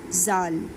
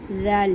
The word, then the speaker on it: ذال: اس کو آپ نے ایسے نہیں کہنا زال زال یا زال، ایسے نہیں پڑھنا، یہ غلط ہو جائے گا. ذال کہنا ہے، نرمی دینی ہے.